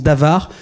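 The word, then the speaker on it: דָּבָר: choses là en hébreu c'est le mot d'avare ça s'écrit Dabar ça se prononce d'avare ce sont les paroles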